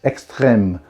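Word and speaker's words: Extrême: or extreme or extreme but like there is a little hat on the e which means i have to pronounce it like this extreme you're welcome french people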